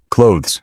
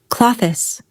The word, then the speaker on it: clothes: clothes Go ahead, try it. Many learners add an extra syllable, like clo-thes. Instead, native speakers usually say clothes. It's quick and ends with a z sound.